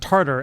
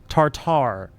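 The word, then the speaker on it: tartare: It is It is not pronounced tartar as in tartar sauce. It is tartar.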